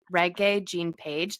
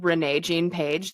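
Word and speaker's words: Regé-Jean Page: was Mr Bridgerton himself reg Jean pagee that's how you actually say his name is like reggae um which Kirsten and I kept calling him Renee Jean Paige the whole time we both were like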